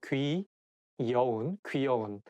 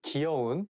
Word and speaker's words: 귀여운: It should be 귀, not 기. So 귀여운. So as a slang, we sometimes say 귀여운. Instead of saying 귀, we say 기 to make it sound a little bit more cute.